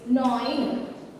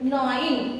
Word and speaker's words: gnawing: That is gnawing. So G is silent. G must be silent. Gnawing, not gnawing.